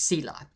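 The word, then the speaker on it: צלע: The word ts l ah or ts e l a is pronounced cila.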